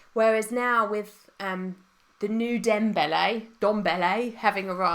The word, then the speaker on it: Ndombele: Whereas now with the new Dombele having arrived. How do you say this guy's name? Ndombele.